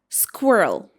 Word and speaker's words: squirrel: It should be squirrel.